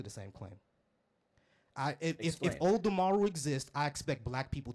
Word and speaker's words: Olodumare: Olodumare exists, I expect black people to exist. I'm a black person, therefore Olodumare.